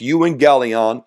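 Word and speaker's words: εὐαγγέλιον: see there the Greek word is the word you and gelon that's how it's pronounced Y and gelon it means Simply Good News the word gospel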